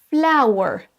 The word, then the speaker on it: flower: On va dire fla ou e. On démarre par un A, ensuite un OU, ensuite un E. Flower, flower, flower. La même chose pour power, power, A ou E.